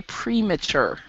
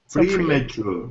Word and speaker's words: premature: excellent thank you and it's actually we we pronounce the pre in premature we say premature premature premature death okay my problem with this personally